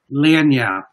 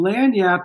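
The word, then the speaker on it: lagniappe: no nothing okay we talked about the term lanyard yes yes like spell that for me oh don't tell don't worry about it so what is that is it's spelled l-a-g-n-i-a-p-p-e dania and and land yap is is my one of my favorite words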